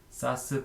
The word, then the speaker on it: SaaS: 사스, 파스, 이아스라고 읽는데 풀어서 얘기하면 소프트웨어 애저 서비스, SaaS, 그 다음에 플랫폼 애저 서비스, PaaS, 인프라스트럭처 애저 서비스, IaaS가 존재하고요.